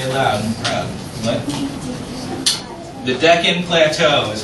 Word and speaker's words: Deccan: Sophie help her out say it loud the Deccan Plateau is how it's pronounced absolutely and so which two mountain ranges